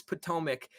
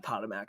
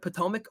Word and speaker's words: Potomac: we apologize for uh using the wrong pronunciation i like tatamac though i i'm not gonna lie but potomac okay we'll take it you